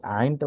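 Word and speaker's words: عين: গলা একটা চাপ দিই, ঠিক এই আইনটা উচ্চারণ করার ক্ষেত্রে গলায় একটা চাপ আসবে। আইন, আইন, আগে গলায় চাপ হবে, তারপর হরফটি উচ্চারণ হবে আইন।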